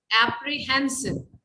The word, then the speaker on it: apprehensive: अब मैंने उस समय word नहीं बोला था, पर सही apprehensive, apprehensive ये सही pronunciation है, और गलत जो ज्यादातर लोग बोलते हैं वो आपरे कर देते हैं.